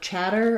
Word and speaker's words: chatter: been a lot of chatter about something chatter has first syllable stress and it has the ah black cat vowel letter c h say the ch sound I do have you